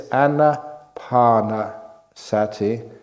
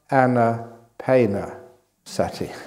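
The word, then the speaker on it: ānāpānasati: It's Anapanasati. It is not Anapanasati.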